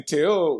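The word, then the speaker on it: Théo: Yeah, and then you say Theo with like a TH, like a soft TH, like a Theo.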